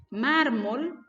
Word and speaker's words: mármol: la rayita en cambio la palabra mármol mármol tiene la mayor fuerza de voz en la penúltima sílaba pero como termina en una ele y la regla me dice que todas las que no terminan en vocal en n s se van a tildar aquí tengo la ele y está fuera de la regla entonces yo si coloco la rayita en mármol la tilde ahora vamos